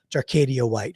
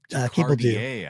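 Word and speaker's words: Jacardia: Jacardier, I think. Jacardier. Is how they pronounce it on the broadcast. Okay, Jacardier.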